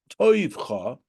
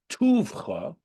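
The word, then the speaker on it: טובך: So this word, tes, vav, vez, chaf, could be read as toivcha, with the dot above the vav. That's called the cholim vowel. Or as it is vowelized here, and how in fact it is our way of pronouncing it, with the dot in the middle of the vav, pronounced tuvcha, which is called the shuruk vowel.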